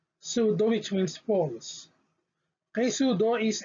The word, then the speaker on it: pseudo: the other example is ps which is pronounced as s p s silent p then it should be pronounced as s so the example is pseudo sudo which means false presudo